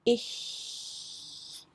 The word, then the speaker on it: ich: It comes in the word, for example, ich. Normally we don't say ich.